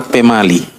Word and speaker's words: pemali: Ya, mungkin di sebagian suku ada yang membacanya dengan pamali, ya, atau pemali, ada juga yang pemali atau pemali. Ya, ada juga saya lihat ya membacanya dengan pali.